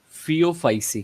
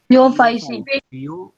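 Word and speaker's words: Phaeophyceae: Also called फियोफाइसी। क्या बोलते हैं? थियोफाइसी।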